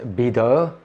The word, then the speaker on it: Bidot: a plus-size model by the name of Denise bitter things that's how you say it and how